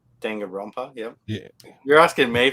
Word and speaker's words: Danganronpa: Dangan Rampa. Danganronpa, yep. Yeah. You're asking me for help on pronunciation.